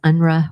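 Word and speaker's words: UNRRA: of the time it's referred to in the literature is unra or I guess the phonetical pronunciation of that acronym this would have been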